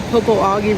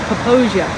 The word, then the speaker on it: Popo Agie: of the waters, so it's pronounced Poposia, not Popo Agie.